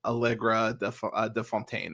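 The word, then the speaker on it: Allegra de Fontaine: she likes yeah yeah Valentina uh algra de Fontaine is how you say it but okay yeah so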